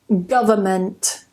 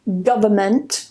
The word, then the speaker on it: government: And the last one, government. Now, if you check the dictionary, you will see two ways to pronounce it. You will see government with no N in the transcription. And you may also see government. You will see that one transcription does not contain the N and the other